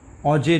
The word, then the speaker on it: Auger: Process is known as ऑजे recombination, AUGER recombination. इसको हम लोग ऑजे रिकॉम्बिनेशन क्यों बोलते हैं, OGE, यहाँ पर R is silent, that is व्हाई इट is known as ऑजेज recombination.